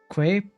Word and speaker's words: quay: are you talking about quay pronounced k ok but i had